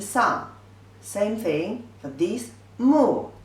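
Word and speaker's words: 目: Pronunciation is mo, u, mu. The fourth tone means I.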